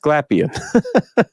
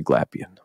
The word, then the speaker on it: Glapion: saying it wrong all these years but it's pronounced glapion and his wife terara said it's actually probably like gapon or something like that but we say glapion like all right cool got that now but